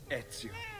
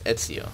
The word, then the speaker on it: Ezio: call him my love ETO that's how it's pronounced no it's Etso can that give people